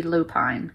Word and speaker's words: lupine: It should be pronounced, if English was always pronounced the way it was spelled, it should be lupine, which is a flower.